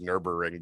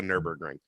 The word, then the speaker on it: Nürburgring: I think it's Nürburgring, but I call it the Nürburgring.